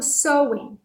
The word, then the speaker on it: Samhain: Então, muitos historiadores acreditam que Halloween tenha sido originado, né, com esse feriado celta chamado Samhain. Embora a gente escreva S-A-M-H-A-I-N, a pronúncia é Samhain, não é Samhain, é Samhain. E é um feriado celta